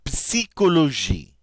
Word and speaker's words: psychologie: In English, this P is silent, but not in French. La psychologie.